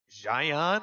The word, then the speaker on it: Xi'an: the World Cyber Games Final Assault tournament over in Xi'an, I believe is how it's pronounced, China.